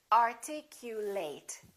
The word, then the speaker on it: articulate: and he speaks well so if it's a verb we say ate and if it's a noun or an adjective we reduce this eight and we say it separate separate separate approximate